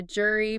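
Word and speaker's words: gyri: The ridges are the jury pronounced JY Ry Jri.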